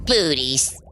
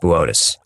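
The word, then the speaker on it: Boötes: Booties. Buus. And it says Booties on the teleprompter. It's pronounced Botus.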